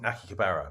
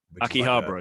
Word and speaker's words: Akihabara: video games everywhere man like i was in nakikabara which is like uh ah akihabara yeah i can't have it i don't pronounce it like uh i was there for